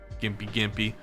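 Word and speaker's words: Gympie-gympie: Nerve says there's one related to stinging nestle called Gimpy Gimpy, pronounced Gimpy Gimpy, that if you brush up against it, it feels like you get on fire and electrocuted at the same time.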